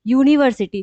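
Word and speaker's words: university: यूनिवर्सिटी तो हम pronounce क्या कर रहे हैं? यू यूनिवर्सिटी। तो यहां पे हमारा प्रोनाउंसिएशन क्या आ रहा है? यू। तो क्या यू हमारे वोवेल साउंड है? नहीं। यू हमारा वोवेल साउंड नहीं है।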